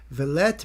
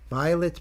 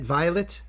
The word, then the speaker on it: Violet: Gate 3 covered by Vallet Moonhart. Vallet Moonhart. Vi rhymes with by Vi. Violet Moonhart. Is that it? Violet. Just Violet. It just looks like it's Vallet.